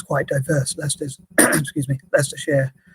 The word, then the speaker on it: Leicestershire: Leicester's, excuse me, Leicestershire is, or Leicestershire, how we pronounce it, is quite a diverse place.